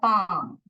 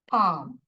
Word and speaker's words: palm: Now inside this is the inside part is called the palm. Palm. You do not pronounce the L in that.